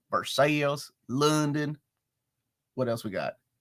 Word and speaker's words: Versailles: But we pronounce it our own way. Versailles, London.